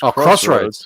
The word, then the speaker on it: X-Roads: X-Roads Strive. Pronounced Crossroads.